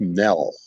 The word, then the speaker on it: Nell: It's not Neil. It's Nell, and it rhymes with hell.